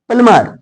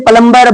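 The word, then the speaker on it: plumber: climb means ऊपर चढ़ना प्लमर प्लमर means नल ठीक करने वाला अब इसे कॉमन रूप से पलंबर बोला जाता है जबकि गलत है इसका होगा पलम टूम टूम टूम मींस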